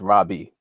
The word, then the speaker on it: Rabbi: a hebraic term which properly is pronounced Robbie you know and it